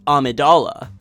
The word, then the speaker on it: Amidala: accented e is necessary her last name is pronounced Amidala am i da la Jabba the Hutt is